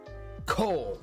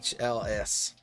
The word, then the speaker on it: Kohl's: Coal. But no, the H has to be enunciated after the O. So, you know, Kohl's, you know, calls it, nope. Yeah, it's Kohl's.